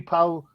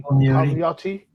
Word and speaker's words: Palmiotti: You've got Jimmy Powell. I can never say it right. Jimmy Palmiotti. Yeah.